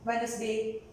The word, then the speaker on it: Wednesday: So we can see when N comes after D, D is silent. Wednesday, pledge, D is silent.